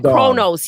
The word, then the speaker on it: Kronos: it I said it wrong the last time Kronos yes yeah yeah Kronos the new dawn which